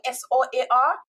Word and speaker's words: SOAR: But can you tell us about SOAR with coaching? SOAR. Yep, you got it right. SOAR coaching. So SOAR stands for solutions plus actions equals results. That is your SOAR.